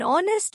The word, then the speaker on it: honest: An is used before words beginning with a silent h but sounds as the vowel o. An honest man, एक ईमानदार आदमी। An hour, एक घंटा।